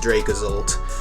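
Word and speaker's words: Dracozolt: it's dracovish same thing with draco's old it's pronounced dracazolt uh you pronounce the word as draco not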